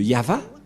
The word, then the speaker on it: Yahvah: c'est Abraham qui a invoqué le nom de Yahva, et la prononciation de Y-H, Vav, He, selon les Hébreux,